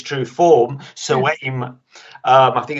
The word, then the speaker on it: Samhain: Halloween as it was in its true form, Samhain, I think it's pronounced.